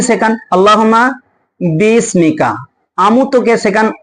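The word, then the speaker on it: أَمُوتُ: যেমন আপনি বাচ্চাকে শেখান কি শেখান আল্লাহুম্মা বিসমিকা আমুতকে শেখান অমুত আরকে শেখান ওয়াহিয়া যার কারণে আমরা যখন কোন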